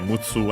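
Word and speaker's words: むっつ: And yeah, mutsu, accent on the tsu.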